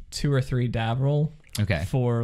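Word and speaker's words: Davriel: Davril.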